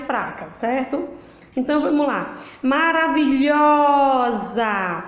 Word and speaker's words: maravilhosa: Maravilhosa. Lhosa. Qual foi a sílaba que eu demorei mais? Lhó. Então, lhó é a sílaba tônica.